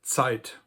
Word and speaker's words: Zeit: And in German, we have the word Zeit, which may not seem related to time or tid, but actually the sound ts used to be pronounced like a t, and the German letter